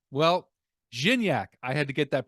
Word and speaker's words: Gignac: it jinny jinny actually jinny all right well zinyak I had to get that pronunciation proper and I did and you guys